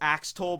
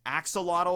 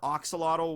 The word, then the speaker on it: axolotl: sorrow no me model I always want to say this word is AK stole but I think it's axolotl or Ock Salado whichever however you want to pronounce that gave it that